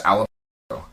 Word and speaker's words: Alamogordo: But yeah, it's Alamogordo. Huh. I thought that's how it was pronounced. I'm like, how the frick? I could never figure it out. Think of Alamo. That's what I was. Yeah, Alamogordo.